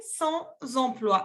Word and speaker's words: sans emploi: exemple, mon frère est sans emploi. Sans emploi significa sin empleo, ¿ok? Sans emploi. Y aquí tienen que hacer la conexión entre la S y la E.